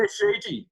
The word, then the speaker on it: Shiji: Is that how you say it? Shiji? Yeah, Shiji.